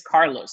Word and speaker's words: Carlos: I was like, no, I mean, my name in English is Charlie. You don't see me going around saying my name is Charles. Like, no, my name is Carlos. That's my name. And that's how you need to say it.